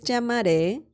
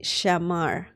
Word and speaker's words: llamar: Now, keep in mind that the double L in Spanish llamar Some people pronounce the double L as in like very similar to the letter Y in English.